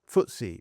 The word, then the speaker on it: FTSE: The FTSE 100, pronounced "Footsie 100", tracks the 100 largest companies listed in the UK.